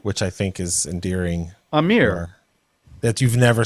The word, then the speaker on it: Aamir: Well, So, you also pronounce it Armir, which I think is endearing. Amir. That you've never said Amir. You always say Armir with an R.